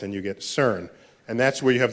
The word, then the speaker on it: CERN: the CERN collaboration so CERN is how you pronounce the word which I think in French that's the sequence of word but in English it's the European Center for Nuclear Research you swap some letters back and forth and you get CERN